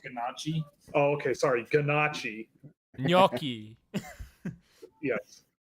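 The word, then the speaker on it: gnocchi: It's pronounced ganachi.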